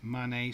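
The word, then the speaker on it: Mané: Happy Mane scored.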